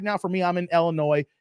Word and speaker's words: Illinois: Like right now for me, I'm in Illinois, not Illinois, the S is silent, guys.